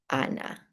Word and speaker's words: Hannah: We have the H, which is silent. For example, my name is Hannah, but you would just pronounce it Anna.